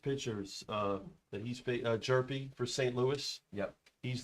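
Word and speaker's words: Hjerpe: is for St Louis uh jerpy it it says it's the H doesn't get pronounced in a in a jerpy um folks this has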